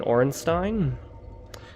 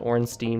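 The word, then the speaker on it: Ornstein: A lot of people pronounce it Orenstein, but I've explained before, based on what appears to be a German word and how that part of a word is pronounced in every other word that it appears in, S-T-E-I-N. I think it would be best pronounced Stein, but who really cares?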